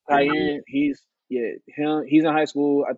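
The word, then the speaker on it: Kiyan: Cayenne. Like the pepper, yeah. Really? Pronounce this like that? Oh, exactly like that, yeah.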